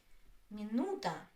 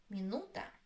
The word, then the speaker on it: минута: Minuta. Minuta. The stress is on U.